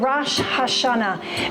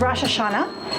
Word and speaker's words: Rosh Hashanah: for the upcoming Jewish feast of rash Hashanah maybe in the United States you've heard it called Rosh Hashanah that's actually an incorrect pronunciation and I'll just explain